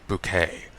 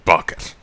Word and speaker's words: Bucket: for herself she hurrah she insisted pronouncing her name bouquet but it's actually bucket and she's it really